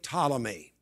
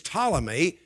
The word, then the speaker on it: Ptolemy: by the name of ptolemy the name begins with the p but the p is silent he is ptolemy we need to know